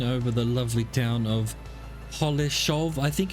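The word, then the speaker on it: Holešov: of holesov I think it might be holesov because it's got an S with a upside down triangle on it and so did koshish that I was looking up to find out how to pronounce and he was saying that that s is a sh as well some more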